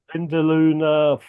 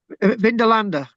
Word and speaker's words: Vindolanda: was in So, the Vindaloo Fort. Is that how you pronounce it? Vindolanda, Yeah, and that's obviously come out today.